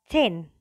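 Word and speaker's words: zehn: Contohnya adalah chain. Chain. Kita kemarin sudah belajar ya. Jadi SMAN chain Malang, bukan SMAN Zen Malang gitu ya. Bacanya chain.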